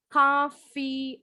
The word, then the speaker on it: coffee: Nah, ini bacanya coffee. O-nya nggak terlalu bulat. V-nya, F bunyinya beda dengan V. Tadi Naima bunyinya V. Coffee. Nah, coffee bunyi F.